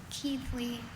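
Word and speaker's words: Keighley: Keithley.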